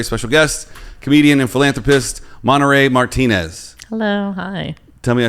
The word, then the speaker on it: Monarey Martinez: abrams today's very special guest comedian and philanthropist monterey martinez hello hi tell me i said your name right yeah monterey martinez i've been obsessing about that all day really